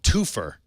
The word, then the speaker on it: Toopher: In mergers and acquisitions news, Salesforce has acquired a startup called Twofer. That's spelled Toopher for some reason, which makes a mobile app for two-factor authentication that works on various web services.